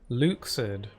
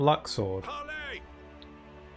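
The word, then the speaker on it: Luxord: it's nobody's mind there's somebody Luke said not Luxor of course how many people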